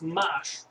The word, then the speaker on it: M4sh: it's not actually m4 but it is m4sh pronounced mash which is an abstraction on top of m4